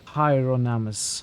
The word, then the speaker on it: Hieronymus: You pronounce it more like Hyronamus. Hyronamus. What was I saying initially? So many pronunciations was mentioned. Now, I don't remember what I was saying. Hieronymus?